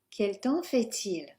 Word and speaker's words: quel temps fait-il: And we start with, quel temps fait-il? Quel temps fait-il? We start with the pronunciation, so don't pronounce the PS. Yes, it looks like temps, but hey. And we will pronounce the T.